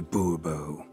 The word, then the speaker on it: Bubo: Bobo fine Monsieur de Bubo the emphasis falls on the last syllable boerboel mm-hmm see now